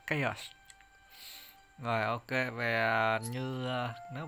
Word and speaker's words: Chaos: Vừa ra Google ghi lại tên của ông đấy, chứ đọc Corrupted Chao là bị sai các bạn. Mà nó đọc là Chaos.